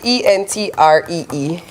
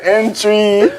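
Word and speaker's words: entrée: What is e n t r e e? e n t r e e Uh entree. We will say entry.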